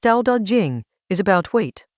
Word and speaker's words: Dao De Jing: Chapter 26 of the Tao Te Ching, pronounced Tao Te Ching, is about weight, not heaviness as a burden, but as the thing that keeps everything else from flying apart.